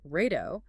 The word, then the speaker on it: rato: In Portuguese, an R at the beginning of a word like rato triggers a sound produced with friction at the back of the throat. Which sounds exactly like an English H.